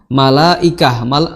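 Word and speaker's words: ملائكة: Ya, jadi illa malaikah, ya, malaikah. Ya, maka di sini mad wajib apapun toriknya, ya, di Hafs Asim, maka dibacanya harus 4 atau 5, ya.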